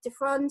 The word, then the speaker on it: Defroand: As you can see, we've got Emily Defroand here. Did I pronounce that right?